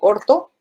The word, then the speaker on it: orto: 2, mejor te digo orto. Y digo orto, pero escribo o escribo 2 o escribo O, pero se pronuncia orto.